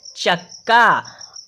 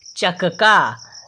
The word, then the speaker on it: चक्का: समय के लिए करेंगे, और जो आधा का है उसका उच्चारण हम कम समय के लिए करेंगे, तो हम इसे पढ़ेंगे चक्का।